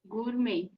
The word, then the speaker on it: gourmet: Gourmet. gourmet. Perfectly correct. T is silent.